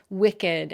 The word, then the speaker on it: wicked: So it's strange that their ed suffix should be pronounced as a separate syllable.